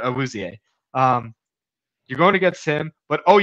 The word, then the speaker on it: Awuzie: I said Azuie, but Awuzie.